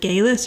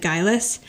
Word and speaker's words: Guylis: She's saying like Gaylis or something, but later in the episode she does pronounce it Guylis.